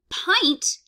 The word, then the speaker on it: pint: is not comb um pint which is kind of surprising this is in irregular pronunciation uh we are pronouncing this with a long eye rather than a short eye such as in hint um so hint is